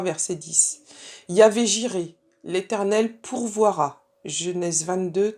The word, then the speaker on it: Yahvé: Alors, le tétragramme qu'on prononce Yahvé, c'est le nom le plus employé dans l'Ancien Testament.